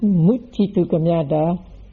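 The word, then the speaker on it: muccitukamyatā: So the first is pronounced Muccitu Kamyata, and the second is pronounced Muncitu Kamyata.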